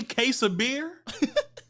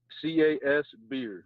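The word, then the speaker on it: Casbeer: pretty similar to that so is your last name really case of beer it's cas beer so charlie alpha sierra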